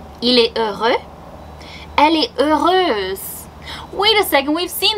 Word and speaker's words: heureuse: And the pronunciation is quite different, so make sure to listen. Il est heureux. Elle est heureuse.